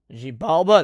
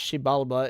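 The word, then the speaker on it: Xibalba: Jibiala. That sounds Chinese. That's worrisome. But okay. Pronounced Sheibala is the fearsome underworld roughly translated to place of fear ruled by malevolent death gods.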